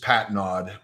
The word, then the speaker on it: Patnaude: well close it's just Patenaude like pat pat your stomach and nod your head okay and he is